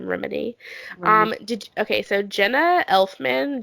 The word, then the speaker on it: Remini: Leah Remini, which is how you say her name, Remini.